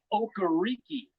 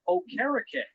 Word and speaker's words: Okereke: broadcast during the preseason, he pronounced it Okereke. And the PR staff said, wait a minute, it's been Okereke the 2 years. He goes, nah, you guys have been saying it wrong my first 2 years.